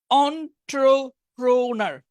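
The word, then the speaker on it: entrepreneur: আচ্ছা এই উচ্চারণটা একটু কঠিন, অন্ট্রপ্রনার হয়েছে, আমারটা হয়েছে অন্ট্রপ্রনার, উচ্চারণটা একটু কঠিন।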